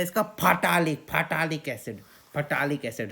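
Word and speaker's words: phthalic acid: फटालिक एसिड spelling भी देखो, PHTH, फटालिक एसिड, फटालिक एसिड।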